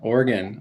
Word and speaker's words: Oregon: I said it right yes said it beautifully Oregon Oregon Oregon yes uh and he is the